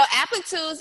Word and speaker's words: Applitools: Applatools? Mm-hmm. Okay. What do you advocate as a senior developer advocator? Yeah. So Applitools is a startup and it focuses on visual testing.